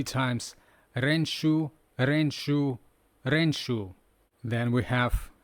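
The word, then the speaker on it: 練習: The next word is practice, renshu. Now we're seeing on the screen words ran, shu. We can imagine that someone is practicing running in a shoe, right?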